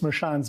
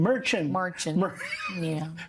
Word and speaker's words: Merchan: They still haven't learned how to pronounce Justice Marchand's name, however. They were out there yelling, going, Merchant.